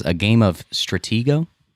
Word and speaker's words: Stratego: Diane says a game of Stratego. It's a board game. Did I say it right? Yes. Stratego?